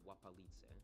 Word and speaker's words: Łapalice: That's Polish up there, but you can tell by the L with a strike through, which is pronounced like a W basically. It's Łapalice.